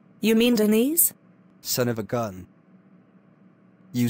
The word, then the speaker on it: Denise: class is going to feel my wrath now dee-nice you mean deniz son of a gun you say your name